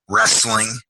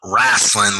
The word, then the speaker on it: wrestling: wrestling personified rick luxury that's wrestling the word not wrastlin like duke loves but wrestling w-r-e-s-t-l-i-n-g personified s p-e-r-s-o